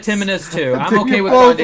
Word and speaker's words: Timinus: I would have said it Timinus too. It's a play on T. It's Ti minus 17.